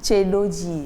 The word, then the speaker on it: Ceedooji: fait de du prénom un beau prénom tedoi j'espère que c'est comme ça tedoi oui t tedoi mais pas comme enfant ah justement par c'est sûr que la prononciation est différente ça veut dire qu'il y a un mot en fond comme ça oui oui bien sûr oui ça s'écrit COJI et ça se lit tedoi voilà c'est comme ça